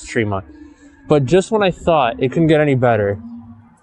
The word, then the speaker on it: Tremont: And I did butcher the name, by the way. It is Tremont.